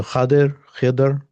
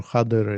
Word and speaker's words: Khidr: So Khidr, those are different ways, but most hadith experts say Khazir, or Khadr is the proper way.